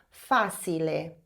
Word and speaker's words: facile: Adiciona um E no final, aí fica facile. Porém, você sabe que o CI em italiano tem som de T, então facile. Agora, finge que você não está tentando dizer facile, finge que você ouviu essa palavra facile.